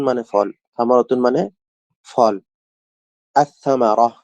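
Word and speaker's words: الثمرة: আস-সামারাহ, এখানে আল উচ্চারণ না হয় সাটা উচ্চারণ হয়েছে।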